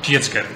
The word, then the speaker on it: Tjidsger: Pues mis padres me llamaron Tietzger. Claro, ese es el problema. Así es la pronunciación de mis padres.